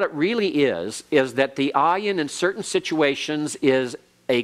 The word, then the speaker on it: ayin: There are certain situations in which the ayin actually is pronounced almost like a G sound. When you talk about the 2 cities, Sodom and Gomorrah, Gomorrah in Hebrew begins with an ayin.